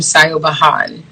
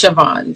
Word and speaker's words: Siobhan: high school there was a girl named sayo bahan um i think it's siobhan but they spell it weird okay and uh i